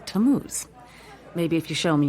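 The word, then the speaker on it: Tammuz: his name is tamuse to what t-a-m-m-u-z it's pronounced tamuse maybe if you show me your evidence he'll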